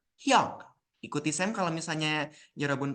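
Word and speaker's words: 형: laki-lakinya itu Hong ya di sini tulisannya Hong tapi yaabun jangan baca baca Heong ya bacanya itu Hyong atau Hyung mungkin ya yarun e terbiasanya eh dengan tulisan Hyung mungkin ya itu y robun hati-hati ya robun ya selesai kelas dari sem jangan sampai bilangnya hiung-hiung lagi ya nanti sem kecewa ya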